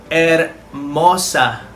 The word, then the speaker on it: hermosa: Pero hindi yan pinupronounce. Ang ipopronounce nyo lang dyan ay yung sa simula ng A, A-che. At ang halimbawa niyan ay hermosa or lovely or beautiful. So tatandaan natin, silent H yan.